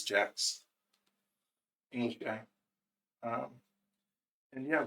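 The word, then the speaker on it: Jacques: always pronounce it shocks, but apparently it's Jack's English guy.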